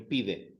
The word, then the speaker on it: pide: Now, where is the emphasis? In pide. The emphasis, where would you put the emphasis? Pide. So that would be the second last syllable. You're not putting the emphasis on the last syllable.